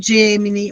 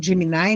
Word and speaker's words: Gemini: né, o chat GPT, o Gemini ou Gemini, né, conforme a pronúncia, o Word Wall, o